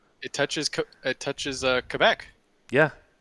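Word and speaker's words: Québec: touches it touches uh Quebec yeah or as I'm told it's pronounced Kea well Kea is what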